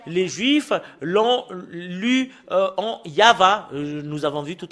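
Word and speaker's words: יהוה: la Sainte Écriture hébreu c'est yava qu'on le prononce et vous pouvez pas le faire une discussion et contredire que c'est yava voilà l'original de cette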